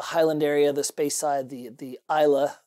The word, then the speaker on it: Islay: And he's like, but you really want to try there's the Highland area, the Speyside, the Isla. It's spelled Islay, but it's pronounced Isla.